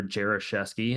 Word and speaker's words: Jeresy: my name is Jeresy is how uh I pronounce it if anyone here is Polish that's not the correct way to pronounce it but um so I'd